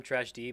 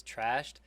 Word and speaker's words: Trashd: I've been calling him Trash D, but I guess I've been pronouncing it wrong. It's Trashed.